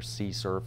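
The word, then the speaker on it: CSRF: vulnerability by the way if you hear sea surf that's how we pronounce that instead of saying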